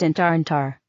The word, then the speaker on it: ENTANTAH: ENTANTAH, pronounced Intarantar.